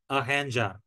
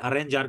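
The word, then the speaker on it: arranjar: আহেঞ্জা, আহেঞ্জার, ঠিক আছে? আরেঞ্জার কিন্তু না, আহেঞ্জার, ডাবল আর হলে একটু হয়ের মতো উচ্চারণটা, আহেঞ্জার, ঠিক আছে?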